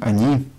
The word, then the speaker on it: они: I'm pronouncing они, она, with а in the beginning, not with о.